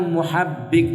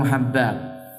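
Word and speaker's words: مُحَبِّق: Ada kosakata di sana, yaitu kalimat muhabbiq bidammil mim wa fathul ha al mahmala summa ba maksurah musaddada. Jadi yang benar cara bacanya adalah muhabbiq, bukan apa tadi? Bukan muhabbaq.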